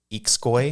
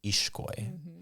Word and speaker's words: Ixcoy: So the X in the Mayan languages or in a Guatemalan name actually makes the SH sound. So if you have the name that's spelled Ixcoy, people might pronounce it Ixcoy. Ixcoy? It's actually pronounced Ishkoy.